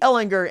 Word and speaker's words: Ehlinger: there all the time in hard G Ehlinger and I'm gonna be